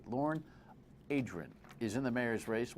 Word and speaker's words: Lorne Adrian: There's 16 ways to say his name, but only one correct way. Lorne Adrian.